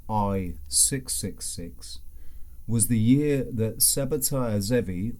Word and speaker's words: Sabbatai Zevi: The year 1666, or as I am suggesting, I-666, was the year that Sabbatai Zevi, or Sheptai Zvi, as I've heard it pronounced, ushered in the year of redemption through sin.